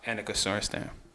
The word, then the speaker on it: Annika Sorenstam: Annika Sorenstam.